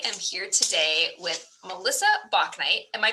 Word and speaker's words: Bauknight: circle and i am here today with melissa bach knight am i pronouncing your name correctly melissa i was wondering